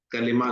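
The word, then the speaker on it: كلمة: है सही आनी चाहिए हम आमतौर पर उर्दू में इसे कलमा ही कहते हैं ये कलेमा इसको प्रोनाउंस हमें करना चाहिए तो बबाना लफ जो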